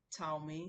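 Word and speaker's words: 草莓: We already told you, c in Chinese is like That's the pronunciation of c. While t is like ts, ts, ts.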